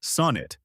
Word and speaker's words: sonnet: The pronunciation is sonnet, with stress on the first syllable. Break it into two parts, sun and it. For sun, use a short, open O, like in on or dawn. Keep it flat and natural. Don't round it like sewn, and don't slide towards sun. Then add the quick, light it, just like the everyday word it. Keep that second syllable unstressed and short, and finish with a clear T.